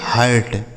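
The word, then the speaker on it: hurt: एच यू आर टी इसे पढ़ेंगे हर्ट, एच यू आर टी हर्ट।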